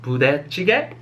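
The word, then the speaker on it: 부대찌개: So this soup is pronounced budae-jjigae, and a lot of my non-Korean friends call it budae, budae-jjigae, budae soup.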